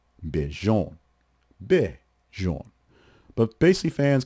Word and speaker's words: Bijan: Similar confusion for him, as Robinson said his first name is technically pronounced Bijan. Bijan.